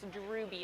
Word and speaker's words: Drooby: Nope, and also quick correction on my part, that is Drooby.